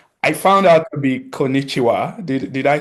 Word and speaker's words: konnichiwa: in Japanese, which I found out to be konnichiwa. Did I say that right? Perfect. Uh, Actually, that's perfect pronunciation.